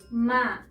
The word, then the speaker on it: maleta: Recordemos que las palabras graves encontramos la sílaba tónica en la penúltima sílaba. Maleta.